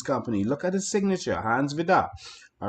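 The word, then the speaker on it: Hans Vide: And so it was signed by Hans Vidar, and that's how you pronounce it. It's spelled V-I-D-E, but it's Hans Vidar.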